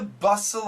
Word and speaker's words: bustle: th sound amid the bustle of of course there's no T bust Love Manhattan now